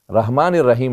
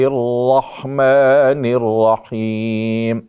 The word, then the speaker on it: الرحمن الرحیم: اللہ الرحمن رحمن الرحیم۔ بہت سے موقعوں پہ سننے میں ہوتا ہے بسم اللہ الرحمن الرحیم، رحمان الرحیم نہیں ہے، رحمان الرحیم،